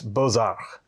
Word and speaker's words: Beaux-Arts: I had to look up how to pronounce that. I was a little bit worried if it was going to be like the traditional French pronunciation or if it would be a more Americanized one. But it's Beaux-Arts.